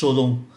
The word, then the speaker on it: Cholon: Người Pháp họ phát âm là Cholon, là chúng ta gọi là chợ lớn.